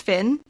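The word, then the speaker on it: Fionn: up before the episode it's apparently pronounced Finn don't know if that's correct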